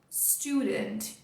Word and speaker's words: student: Então, na pronúncia, você vai colocar a força aqui e lembrar que ao contrário de study, esse U faz som de U. Student, student, student.